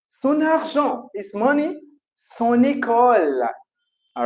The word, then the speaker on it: sont: There is no change to say SONT. We do not use the T. Okay, we did not pronounce the T. So it's son.